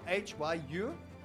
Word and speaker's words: Hyustus: Hyastus, so Hyustus, H-Y-U. STUS, Stop trying to spell it right.